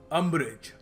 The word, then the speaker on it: umbrage: देखिए, अगला शब्द है अम्ब्रेज। अम्ब्रेज, ठीक है, UMBRAGE। इसको प्रोनाउंसिएशन जो है इसकी याद रखना, अम्ब्रेज। लोग इसको पता नहीं कुछ और ही कह देते हैं।